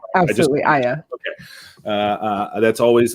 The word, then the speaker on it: Aya: much for joining us am i am i pronouncing your first name absolutely ayah okay uh uh that's always like i always